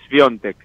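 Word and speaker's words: Świątek: manera originalmente de otra dicho por ella misma su apellido es piontek pero bueno Tratamos de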